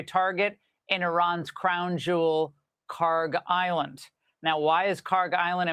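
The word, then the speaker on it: Kharg Island: Karg Island.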